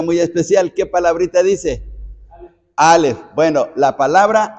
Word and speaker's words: alef: alfabeto griego el alef el alef no tiene pronunciación el es una es una consonante pero hagan de cuenta como si fuera una H muda para nosotros sí pero resulta que